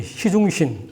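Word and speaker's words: 習仲勳: 자기 아버지 시중신 중국 발음으로 우리 한문 발음은 습중운이라고 하는데 치신이라고 하는 어떻게 보면 공산당 팔로원 여전사 출신인 지신 이 사이에 태어난 사람이에요.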